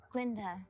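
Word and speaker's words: Glinda: Glenda. The G is silent.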